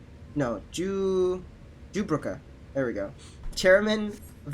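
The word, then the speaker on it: Jubrunnah: If I may correct our mutual friend, I am Jubraka? No, Jubruka. There we go. Chairman of the concern. I'm not pronouncing everything that I can.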